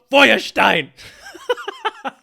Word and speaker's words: Feuerstein: Now, you probably don't pronounce it like that. Probably when not. you pronounce it in the proper German way, it sounds even scarier. Right. Joshua Feuerstein.